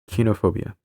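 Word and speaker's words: koinophobia: From ancient Greek, koinos, common, ordinary, stripped of specialness, plus phobia, fear, pronounced kinophobia.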